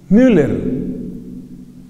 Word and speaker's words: Müller: Derek Müller. El apellido se escribe M-U, L-L-E-R.